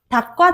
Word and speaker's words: 닭: 닭과 닭의 차이. 예은아 빨리 와. 오늘 닭 먹자라고 이야기를 했어. 그러면 이 닭 먹자의 발음, 뭘로 발음돼요? 닭, 기역으로 발음이 되죠.